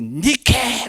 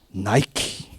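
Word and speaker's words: Νίκη: 그을려 소스 복음 그러면서 말한게 니케 그런겁니다 이렇게 어디서 많이 들어본 받지 않습니까 나이키 영어 발음이나 키가 된겁니다 그 늦게 가 뭐냐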